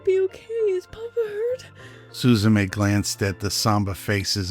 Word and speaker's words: Suzume: In the ancient tongue, it would have been pronounced Suzume.